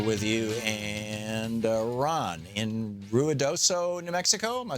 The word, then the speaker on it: Ruidoso: Tom Harbin here with you and Ron in Ruidoso New Mexico am I saying it right Ron